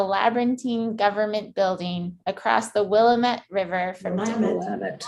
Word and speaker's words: Willamette: On June 23rd in Portland, inside a labyrinthine government building across the Willamette River from Willamette. Willamette.